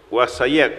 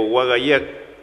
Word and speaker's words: Huaxayak: camino y Wasayak o Wagayak es agua. Entonces buscamos unir este camino y agua. Entonces camino del agua sería Nandik, Wasayak, Wagayak o Wasayak. Se pronuncia de distintas formas de acuerdo a la zona.